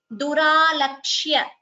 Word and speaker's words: दुरालक्ष्य: Duralakshya. Please note the pronunciation. Duralakshya. Here ksha and ya both have to be heard.